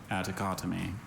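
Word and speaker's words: atticotomy: Attocotomy. Attocotomy. May I have the definition, please? Attocotomy is a surgical incision of the small upper space of the tympanic cavity. Attocotomy.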